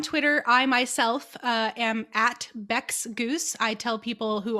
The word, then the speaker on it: Bex: So on Twitter, I myself am at Bex Goos. I tell people who are above the age of 18 that Bex rhymes with sex.